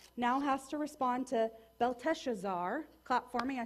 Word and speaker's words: Belteshazzar: And so this young man named Daniel now has to respond to Belteshazzar.